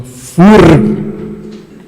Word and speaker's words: FURG: Quanto à sua outra pergunta, olha, quando eu mostrei ali a foto aérea do campus da FURG, perceba a minha pronúncia, FURG, certo?